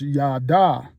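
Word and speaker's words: יָדַע: There's another word named uh it's pronounced as yada.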